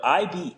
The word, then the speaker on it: Ibe: But IBE is actually my middle name. I'm of Nigerian descent, so it's pronounced Ibe, which is short for Ibe, which means I